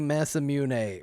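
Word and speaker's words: Masamune: I I understand it should be massamune ma masamun mune but it's not that easy for me.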